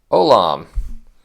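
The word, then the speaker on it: עולם: the next one Olam so there's ion which is silent but you notice there's no vowel down here the V with the dot above that's an O so that whole thing is one vowel So Silent o lamid with a and then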